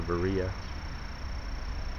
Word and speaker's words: Berea: It's a church in Veria, or Berea, depending on how it's pronounced.